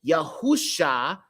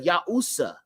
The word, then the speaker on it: Yahusha: that's why we say yahusha yahusha instead of yaha okay so it makes the sh sound now this is it